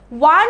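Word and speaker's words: one: কিন্তু সাউন্ডটা কিন্তু এখানে ওয়ান হচ্ছে, রাইট? এটা কিন্তু কোনো টানের সাউন্ড হচ্ছে না, এখানে একটা কম্পাউন্ড সাউন্ড হচ্ছে।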